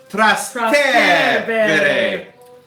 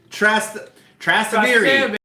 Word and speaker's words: Trastevere: Okay, maybe a pronunciation here. Trastevere. Trastevere. Where do we put the emphasis? Trastevere.